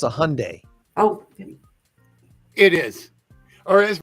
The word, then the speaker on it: Hyundai: pretty sure it's a Hyundai oh it is or is my sister calls it Hyandai Hy Lori it's the why is silent it's Hyundai Hyundai Hyundai whatever but it's not Hyandai Hyandai that's a that's